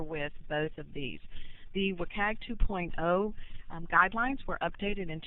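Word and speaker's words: WCAG: web content accessibility guidelines if this acronym is pronounced work AG and the Board of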